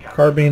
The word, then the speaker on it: carbine: is that actually how now if you said war Bean that would have been weird you yeah yeah carbine is always the way I've heard it pronounce really yeah I thought